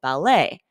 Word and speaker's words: ballet: we pronounce the second we emphasize the second syllable so for example ballet and B but in